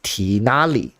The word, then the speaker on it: Tignari: CN Tignari's name is pronounced as Tinali, which is right.